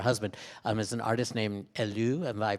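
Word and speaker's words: Helleu: death by her husband as an artist named Alou and by pronounced H e ll EU and it he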